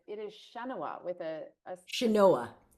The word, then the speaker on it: Chenoa: reminded me I didn't tell you how to pronounce mine. And so I Yeah. apologize. It is Chenoa with a Chenoa. Chenoa, Chenoa.